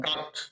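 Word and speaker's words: cut: দুই পাশে কনসোনেন্ট, মাঝখানে যদি ইউ থাকে তাহলে উচ্চারণটা হয় আর মতো। কিসের মতো? আর মতো। যেমন কাট, কাট মানে কাটা। সি, সি কনসোনেন্ট, টি কন্ট্রোনেন্ট, কনসোনেন্ট, সব মাঝখানে ইউ আছে, উচ্চারণ হবে আর মতো, কাট।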